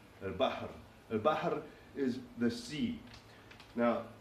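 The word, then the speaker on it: البحر: And for the sea and things related to the sea, the root is B, H, and R, al-bahr.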